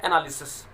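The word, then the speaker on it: analysis: इसको बोलेंगे एनालिसिस। तो एनालिसिस होता है, एनालिसिस नहीं होता, एनालिसिस, LY लिसिस, एनालिसिस बोलेंगे। ये नाउन के रूप में काम करे, इसका मतलब है जांच, छानबीन।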